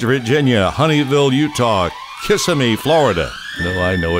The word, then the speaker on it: Kissimmee: Tennessee also Valentine's Virginia honey will you talk Kissimmee Florida no I know it's actually pronounced Kissimmee course Americans spend billions on flowers for their